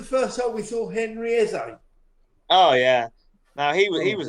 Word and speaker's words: Eze: Henry, and then his surname is spelled E-Z-E. Henry Eze. Like easy.